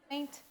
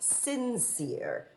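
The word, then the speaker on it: St Cyr: Saint. No, my dear, it's pronounced sincere, the English way.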